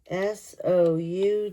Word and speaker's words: sough: S O U G H.